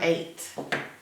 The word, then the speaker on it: eight: its own a a so this is the part we have to learn by heart e-i-g-h makes the a sound an eight a a a that's a lot of letters to make one sound the number eight e